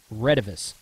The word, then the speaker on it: Retevis: Some people say Retevis. I've always heard it pronounced Retevis. Honestly, if you were to go to China and ask them how to pronounce it, it would probably be something totally different. Like Waxon is actually pronounced O-Chang. Okay. Anyway, so Retevis is how I say it.